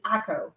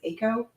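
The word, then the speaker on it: Acco: but the parent company akko acc oh i think that he pronounced it ako and they also owned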